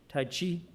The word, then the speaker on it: tai chi: calligraphy and this triggered other interests of course tai chi and ken always corrected my pronunciation tai chi and then he developed and became ever deeply